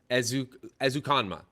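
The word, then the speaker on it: Ezukanma: that yes i don't want to say his name wrong i'm sorry as ukanma that's it yes that is him yes so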